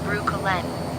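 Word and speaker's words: Breukelen: Broekelen is pronounced roughly as Broo-kuh-len, and it's the Dutch town that gave Brooklyn, New York its name.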